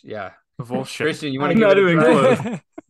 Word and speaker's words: Kowalczyk: It's Sebastian Kowalczyk. Kowalskish, yeah. Kowalczyk.